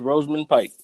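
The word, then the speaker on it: Rosamund Pike: crazy I thought you pronounce it another type away but like no it's Roseman Pike yeah man like she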